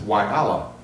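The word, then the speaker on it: يلا: of the program is Y Allah, the letter Y and then Allah. And I looked it up. It's pronounced technically, according to Wikipedia, Yalla, meaning let's go.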